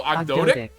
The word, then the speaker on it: Ogdoadic: Here, we have the pronunciation pulled Ogdoadic. up. There you go, Ogdoadic.